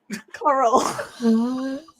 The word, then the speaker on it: Cotterell: Yeah, no, don't pronounce the T. The T's fucking a silent word in his name. Coral.